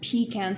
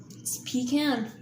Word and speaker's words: pecan: and 40 of Southerners pronounce it as P can see pecan 75 of us Northerners